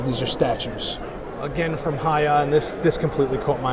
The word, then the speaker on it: Hiya: This is from Hiya, H-I-Y-A. Oh, I'm pronouncing it right.